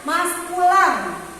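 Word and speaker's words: masculin: yang ini dibacanya maskulan kalau dalam bahasa Prancis.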